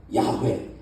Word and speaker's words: 야훼: 그리고 하나님의 이름은 여호와예요 우리 한국식으로 말하는 야훼 이게 더 원래 발음하고 가까워요 야외 하나님 이스라엘 사람들은